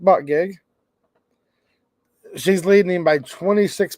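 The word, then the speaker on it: Buttigieg: you pronounce his name I think he pronounces it Pete but gig I think that's the pronunciation of his name phonetically anyways Pete but gig she's leading him by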